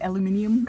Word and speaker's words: aluminium: So they're making most of the car out of the aluminum, or as the British say, is it aluminium? Aluminium. The frame, I'm guessing, is still steel, though, right?